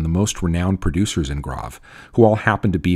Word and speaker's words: Graves: Definitely say Grave and not Graves. And as a way to remember the pronunciation, just know that the name refers to the gravelly soils in the area.